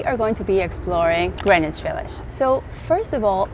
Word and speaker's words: Greenwich: So maybe if you're not a native English speaker like myself, you will think it's Greenwich, and it's actually pronounced Greenwich.